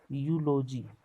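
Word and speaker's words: eulogy: Year यहाँ पे जानबे करते हैं ए लगता है, यहाँ देखिए ई से है, लेकिन इसका ई साइलेंट है, यूलॉजी यू, यहाँ ये यू लगेगा, इसीलिए ए से यहाँ पे शुरू होगा।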